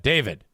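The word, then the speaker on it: d4vd: Singer D4 VD. D4V. How do you say that? David. Singer. David.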